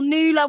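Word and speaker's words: Nu-La: I was like, well, Nula works because it's like, I don't know, it's basically Nawala, but without the A in the middle.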